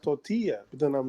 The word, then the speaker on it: tortilla: I was about to hop in and say it's actually pronounced tortilla, but then I'm like she knows.